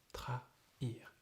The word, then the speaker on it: trahir: Trahir. So it's like envahir. There are two syllables separated. So it's trahir.